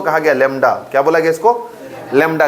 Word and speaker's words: lambda: इसी को कहा गया लेमडा। क्या बोला गया इसको, लेमडा कहा गया, LAMBDA, ठीक है ना, स्पेलिंग है।